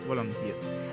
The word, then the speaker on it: Volodymyr: In Russian, the name is pronounced Vladimir and Ukrainian Volodymyr.